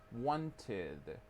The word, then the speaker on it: wanted: You have to pronounce id, id. So you say wanted, wanted, needed, needed, right?